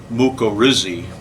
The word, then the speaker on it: mycorrhizae: to mycorrhizae and actually if you wanted to pronounce mycorrhizae correctly it would actually be much risi but nobody pronounces it that way at all so we're not going